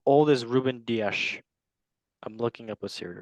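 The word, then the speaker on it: Rúben Dias: I mean, player wise, as a football fan, Ruben Diaz is probably better than. Pronounce Ruben Dias.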